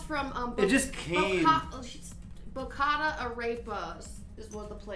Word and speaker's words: arepa: Arepa. It's Arepa. You know I'm good at pronouncing.